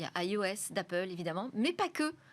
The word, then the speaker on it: eOS: Open Source logiciel libre il s'appelle iOS mais ça s'écrit eos et là aujourd'hui sur